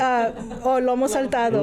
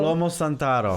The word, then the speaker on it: lomo saltado: Lomo saltado. Lomo santaro.